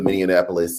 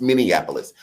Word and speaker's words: Minneapolis: uh of uh the minap uh police and am I saying that wrong somebody told me I'm saying it wrong minap right minap Minneapolis Minneapolis Minneapolis Minneapolis Minneapolis it's Minneapolis the Minneapolis Police Chief